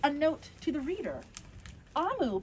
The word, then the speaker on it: Omu: note to the reader AMU pronounced a moon is the Evo term